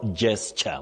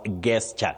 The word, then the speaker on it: gesture: Now, Betty, at some time we handled the word gesture, which many people innocently mispronounce as gesture. Now, the letter is G, but the sound is J. J. So you say gesture, and you also say